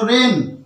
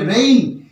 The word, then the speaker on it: rain: এর উচ্চারণ আমরা কি করি র একার দন্তন্য রেন এই উচ্চারণটা করি আমরা কিন্তু এটা ভুল উচ্চারণ এর সঠিক উচ্চারণ কি হবে র একার রসই দন্তন্য হবে রেইন এর সঠিক উচ্চারণ হবে রেইন কেন হলো সবসময়